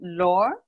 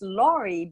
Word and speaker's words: Laure: And yes, it's oftentimes pronounced Laurie because the E at the end, but it's French. My first name is French, and it's the final E in French is always silent. So we pronounce it Laure.